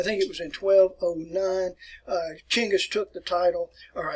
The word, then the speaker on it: Chinggis: that around right here, we try to spell these words in English the best way we can, such as you see Genghis, but Chinggis. And this is actually the word that I prefer here, Chinggis.